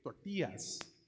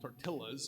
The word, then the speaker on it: tortillas: shamed for eating uh I'm gonna say it right tortillas we call them tartillas in my house I'm not even kidding